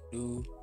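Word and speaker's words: ド: What does to sound like with the dakuten? To with the dakuten is pronounced do.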